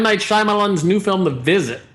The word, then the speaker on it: Shyamalan: Night Shyamalan's new film, The Visit. It's pronounced Shyamalan.